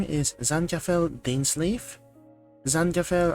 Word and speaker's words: Zankapfel: Zankapfel, I believe, is a German word. So according to Google Translate, it's supposed to be pronounced as Zankapfel. But Tagalog po ako, Pilipino, so Zankapfel.